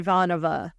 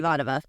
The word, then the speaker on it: Ivanova: right Susan I know I keep imagining ivanho and somehow I get there ivanho Ivanova like Ivanova I literally had to create a word puzzle for myself to remember how to pronounce her name because I was like